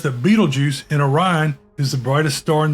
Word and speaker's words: Orion: But up there's the constellation of Orient. The brightest star in all the heavens. Of course, Orion is the hunter, and the Big Dipper is the Great Bear. He also says that Beetlejuice in Orion is the brightest star in the sky.